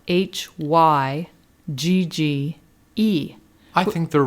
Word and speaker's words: hygge: i ask please how do you spell hygge hookah is actually spelled h-y-g-g-e i think they're wrong i don't think that's how it's spelt this is why this is why i